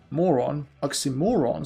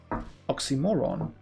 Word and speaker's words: oxymoron: fine as you see oxymoron so you want to stress on the second to last syllable oxymoron okay I mean to